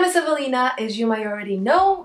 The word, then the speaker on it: Ewelina: The way it's spelled is E-W-E-L-I-N-A, which in United States, because that's where I live, people think and they say my name, Ewelina. Ewelina. And they have no idea why I say it's not Ewelina, it's Evelina.